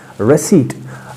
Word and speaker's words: receipt: Receipt. And in our own literature, in our own Kashmiri terminology, we call it receipt. No, not receipt, we call it receipt, but the correct pronunciation is what? Receipt.